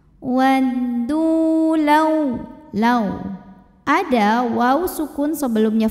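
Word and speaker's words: وَدُّوا: Waddu, hukumnya adalah mad tabi'i zahiri karena ada waw sukun didahului baris dhammah. Maka cara bacanya huruf dal ini kita panjangkan 2 harokat saja. Waddu law.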